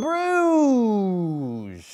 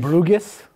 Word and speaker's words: Bruges: Schreiber we're here today to talk about in Bruges is that how you pronounce it in broome not in bougas in Bruges and bro Bruges Belgium in grudges